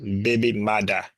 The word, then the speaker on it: baby mother: Creo look at this the term originated in Jamaican Creo as a baby mother pronounced baby Mada with the first printed